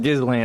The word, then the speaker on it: Ghislaine: being with That's Ghislaine one thing I'm glad Maxwell I'm not.